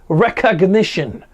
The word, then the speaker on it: Rekognition: artificial intelligence tool named recognition which I say it weird because it's spelled with a k which is weird recognition almost overnight deputies saw